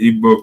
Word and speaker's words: Igbo: If you call them ebo you are right. It's either ebo or ebo. But um the right pronunciation should be ebo because they have been addressed to us.